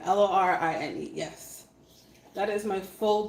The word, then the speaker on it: Lorine: my name is spelt l o r i n e so my name is lorine my name is Loren but Jamaican people say I don't know why it is what it